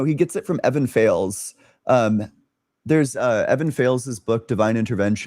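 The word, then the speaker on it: Fales: I I thought it was pronounc I thought it might have had a more dignified pronunciation but I watched an interview with him and nope it's fails.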